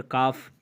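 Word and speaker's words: calf: इसी तरह काफ, बिछड़ा, इसमें भी आप देख सकते हैं कि एफ से पहले एल है और एफ से पहले जहाँ पे एल हो तो वो भी साइलेंट हो जाता है।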